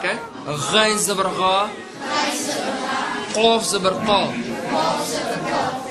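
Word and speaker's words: قاف: Qaf zabarqa. En deze qaf komt hier uit je keel.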